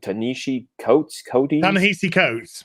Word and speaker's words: Ta-Nehisi Coates: It's like you had posted that, I don't know how you say the dude's name, Ta-Nehisi Coates.